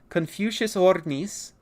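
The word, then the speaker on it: Confuciusornis: regular Birds this is confucious or let me pronounce it correctly confucious Oris and confucious Oris uh is not a dinosaur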